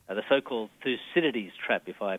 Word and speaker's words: Thucydides: The so-called Thucydides trap, if I pronounce Yes, that Thucydides, correctly.